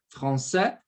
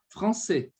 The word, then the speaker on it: français: Esse AIS, ele pode ter um som, você pode pronunciá-lo assim, français ou français, tá?